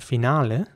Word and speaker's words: finale: next word is spelled f-i-n-a-l-e and in British English this would be pronounced finale sorry finale with an e at the end not an e that